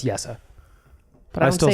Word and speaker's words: Jesse: I mean, I still say Jesse Pugliarvi, so this is a lost cause with me. I know it's Yessa.